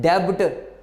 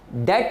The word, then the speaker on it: debt: लफ्ज़, लोग इसको पढ़ते हैं डेब्ट, नहीं जी, डेट लफ्ज़ है, डेट लफ्ज़ है। बी के बाद टी आ जाए, बी के बाद टी आ जाए तो आपको पता है कि बी की आवाज़ साइलेंट हो जाती है।